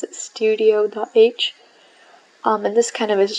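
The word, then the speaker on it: stdio.h: And now if we go to C, we have this, I pronounce it studio.h.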